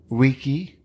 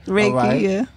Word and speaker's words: Reiki: You teach about Kemetic Reiki. Am I saying it right? You were right. Reiki, Kemetic Reiki, right?